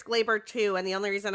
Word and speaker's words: Gleyber: Well, first of all, I think it's pronounced Glaber because John Sterling, whenever he hits a home run, calls it Glaber Day.